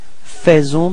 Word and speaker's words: faisons: So, here it's quite tricky because actually we write it A-I, faisons, but then we pronounce it faisons, okay? And then final S is not pronounced.